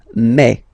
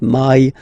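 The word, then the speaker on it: mai: then you pronounce it me me okay so don't pronounce e don't try to pronounce it no it's me me so it's not my it's me okay and then here well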